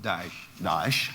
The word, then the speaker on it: Daesh: Daesh, as you look, my pronunciation is correct? Daesh, correct.